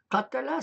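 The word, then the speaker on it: قَتَل: Donc le premier, katala, signifie il a tué lui-même.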